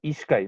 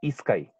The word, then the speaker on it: ishkay: Ishkai, no es Iskai.